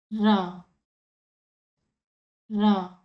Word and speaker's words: ர: So this Ra is called Chinnara or Idainara. This is small Ra. And this one is called Periyara or Vallinara. The big Ra. When you pronounce this small Ra, your tongue has to touch the tip of the palate and it should sound medium. Just say with me Ra.